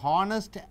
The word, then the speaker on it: honest: So, example, an honest man, an honest, you should use an, even though it is H, you pronounce it as O, honest.